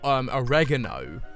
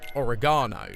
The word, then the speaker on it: oregano: Yes, I was saying I've watched so many American programs that I keep saying oregano as opposed to oregano, which is the British pronunciation.